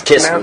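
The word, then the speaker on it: כתבו: It's kisvu lachem.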